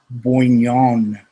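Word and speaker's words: Bouagnon: bhugnan you know i i heard him pronounce it in the ohio state game it was like boingyong it was okay perfect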